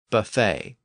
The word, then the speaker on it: buffet: s or t so words that have a silent s or T at the end are usually lone words from French words like debris buffet and Bouquet I also noted in